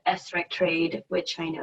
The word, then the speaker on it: SRECTrade: coming up of course thanks sarah um it's pronounced esrek trade which i know it's not very intuitive um